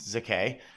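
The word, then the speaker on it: Székely: AA Ava Zak uh spelled s z e k e l y but I believe it's pronounced Zak who pretended she was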